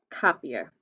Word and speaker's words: copier: i'll circle the er cop e it sounds like a long e so i put my e with my background my long e sound above it copier okay now